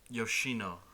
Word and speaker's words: Yoshino: One thing that was interesting is Yoshino. That's how you pronounce it.